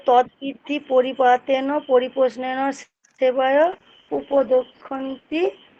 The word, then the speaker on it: তদ্বিদ্ধি: শোনো, উচ্চারণটা খুব ভালো করে মুনমুনমা। তদ্বিদ্ধি, তদ্বিদ্ধি, উচ্চারণটা হচ্ছে তদ্বিদ্ধি।